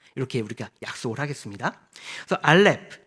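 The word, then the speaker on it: אלף: 우리가 약속을 하겠습니다 그래서 알렙 이거는 이제 어 음가는 이응이라고 무음입니다 아 뭐 가나다라 할 때 어 아는 이응은 발음이 없잖아요 그래서 묵음으로 보시면 되고요 그리고 이것은 소머리 모양이에요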